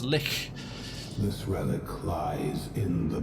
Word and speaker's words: lich: she's natural not sorry lich lich it's pronounced lick this relic lies in